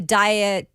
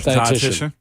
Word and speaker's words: dietitian: The dietitianist? How do you say it? Dietitian.